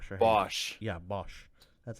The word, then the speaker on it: Bosch: Bosch.